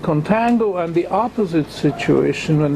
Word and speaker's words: contango: two this situation is known as contango i don't know where this word comes from but it nicely rhymes with tango and i use this